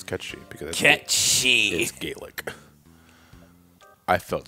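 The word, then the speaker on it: Cait Sith: as as it said has it's pronounced let's pronounce cut sheet because she's Gaelic I felt so betrayed [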